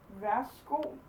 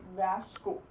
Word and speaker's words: værsgo: The Danish version is værsgo. Vær så god is the actual writing of it, but we just say værsgo.